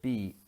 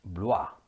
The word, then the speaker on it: Blois: According to our guidebook, the central French town of Blois is pronounced Blwah.